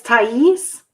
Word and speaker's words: Thais: What's the pronunciation for her? Yeah, it's Thais Harris. Miss Thais Harris.